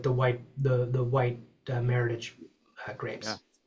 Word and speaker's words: meritage: I'm I'm I'm happy that that Kim, you know, we make merit we make multiple meritage wines. And just to touch on that, you know, maritage, often mispronounced maritage, English word came about in 1988 to help describe um blending with the Bordeaux varietals.